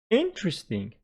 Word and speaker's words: interesting: comfortable comfortable interesting interesting interesting put the stress on the first syllable making it interesting vegetable vegetable vegetable okay